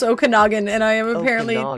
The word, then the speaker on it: Okanagan: Pronunciation. Okanagan. Okum. Isn't that what I said? Name pronunciation for more confusing names. Okanogan.